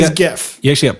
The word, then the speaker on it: GIF: So hard G is GIF.